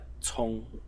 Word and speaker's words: 从: And the second general pronunciation is cong, as in the word hei cong cong, which means murky.